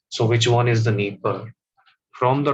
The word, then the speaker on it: Dnieper: It's not Dnieper. It is always pronounced as Dnieper River.